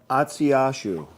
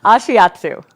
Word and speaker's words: Ashiatsu: Now, Atsiashu. You're going to make me mispronounce it. Ashiatsu. Ashiatsu.